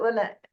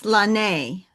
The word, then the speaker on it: Lonnae: It's Lonnae. Hey, just Like phonetics. Lonnie, but Lonnae. I actually learned phonetics. Yeah. So I met Lonnae briefly at the Hyattsville